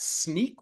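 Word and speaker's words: Snyk: the field CTO at sneak which if you're not aware is pronounced like sneaking around or a pair of sneakers it's also an acronym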